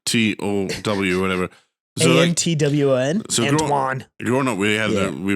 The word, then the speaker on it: Antoine: she'd read Antoine and then say, that says Antonio. Antoine. And we just renamed one of our coworkers. So Antoine is spelled like Antoine, like 9 it's or whatever.